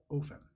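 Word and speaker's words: Ophen: But for simplicity's sake, the ambassador, Ardarian, and the husband, Ofen. O-P-H-E-N. But the dwarf kind of repeats that, and he says, well, Ofen and Ardarian were having a fantastic time watching the race that was happening.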